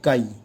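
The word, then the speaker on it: χ: तो बेटा mole fraction का जो सिंबल है, सिंबल मोल फ्रैक्शन का होता है काई। Is written like x, बट इसका प्रोनाउंसिएशन एक्स नहीं है, इसका प्रोनाउंसिएशन बेटा है कई।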